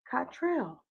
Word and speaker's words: Cottrell: Wendy Webster Jackson, my sister, and we also have Cameron Cottrell. Did I pronounce it correctly? Yes, I did. I was going to say. Sounds like Cotton Trail.